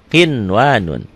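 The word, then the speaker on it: قِنْوَانٌ: Dibacanya apa? Kinwanun, ya. Qinwanun.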